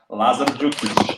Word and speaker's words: Lazar: um uh Lazar say your name for me Lazar Lazar Lazar Lazar okay good I called Andrew